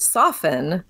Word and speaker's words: soften: And he pointed out to me that the word soften does not have the T pronounced.